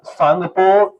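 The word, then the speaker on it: Tsangpo: अच्छा सांगपो जो है इसका स्पेलिंग होता है टी से। इसलिए कई बच्चा हिंदी में जब पढ़ता है तो गड़बड़ कर देता है। आई टी एस जेड। सांगपो इसको हिंदी में क्या लिख देंगे? सांगपो।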